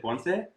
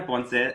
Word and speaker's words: Ponce: So today we have Carina, and actually I didn't confirm the proper pronunciation. Is it Ponce? Yes, Ponce. Okay. Perfect. So Carina Ponce, Ancestral Healer from Yo Soy Carina, joining us